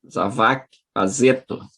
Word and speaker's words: Zawaki Pazetto: Doutorando Alexandre Zavac Azeto. É assim que se pronuncia, É Alexandre?